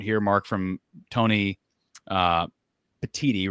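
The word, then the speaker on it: Petitti: I want to give a quote here, Mark, from Tony uh Patiti, right? Am I pronouncing his last name correctly?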